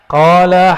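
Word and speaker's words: قال: Qala haddatsana. Coba lihat. Ini enggak ada tulisan qalanya enggak ada kan? Tapi ahli hadis membacanya qala. Dibaca qala itu.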